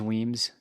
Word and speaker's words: Wemyss: for, like you said, the Weems or Wemyss, I think is Weems, but they're Yeah, like I'm the not sure the scrim.